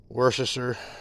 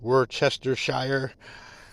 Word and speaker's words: Worcestershire: Liam Perrin's Worcestershire sauce, Worcestershire. Those of you who like to use every syllable.